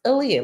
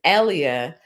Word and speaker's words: Aaliyah: Aaliyah's name is pronounced Aaliyah, like the singer Aaliyah. I had a supervisor. That's probably where the name came up, but I did a fancy spelling. Midnite pronounced it as Elia.